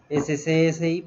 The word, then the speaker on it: SCSI: Entonces vamos a dejarlo SCSI por defecto. Sí, en serio, así se pronuncia, curiosamente. SCSI, pero sí, generalmente les llaman SCSI.